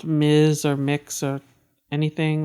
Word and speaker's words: Mx: Ms mhm MX and it's pronounced mix yeah um cuz like just someone is non-binary or us as they them pronounce doesn't necessarily mean they like the title mix oh yeah one of